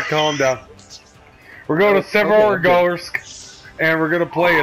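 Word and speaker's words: Severogorsk: You totally butchered that. We're going to Severgorsk.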